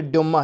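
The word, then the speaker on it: Дума: इयुमा, ठीक है, इयुमा नहीं है दोस्तों, ये ड्यूमा है, राइटिंग गलत है, ड्यूमा, सॉरी फॉर प्रोनाउंस।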